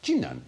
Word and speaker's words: Jinan: The city of Qinan, spelt Qinan, but pronounced Jinan in China, is about the same